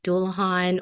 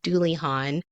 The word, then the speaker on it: Dullahan: commonly known as the Dulahhan or the Dulhon with variations of the name differing further by regional dialects and by placing emphasis on either the first or the second syllables according to those regions.